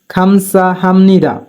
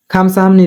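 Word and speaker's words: 감사합니다: থাকার কারণে বিউপের উচ্চারণ নিয়মের মত হবে তাই উচ্চারণ হবে খামসা হামনি খামসা হামনি মানে ধন্যবাদ ইয়ং উপরে থাকলে ইয়ং এর উচ্চারণ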